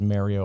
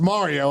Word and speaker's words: Mario: They one of their hosts over there says Mario all the time, and it kind of annoys me. But it's got to be understood at this point that it's pronounced Mario.